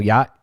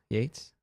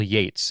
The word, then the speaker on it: Yates: Kyle Yacht. What did he say his name was? Yates. Kyle Yates is how you say it.